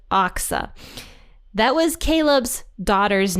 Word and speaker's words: Achsah: But I think it's pronounced Achsah. So we're going to go with Achsah.